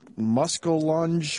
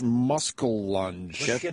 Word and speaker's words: muskellunge: want a Google Image muskellunge yeah that should be the musk apart and then lunge LUN GE there's nice